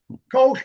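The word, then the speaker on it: Koch: Do I pronounce it correct? Kosh coke coke k. Yeah.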